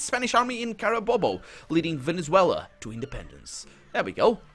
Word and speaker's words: Venezuela: So we have Venezuela now a country. Or Venezuela. Sure. I say Venezuela because that's how it's said in Portuguese, so I'm pretty sure it's Venezuela in Spanish.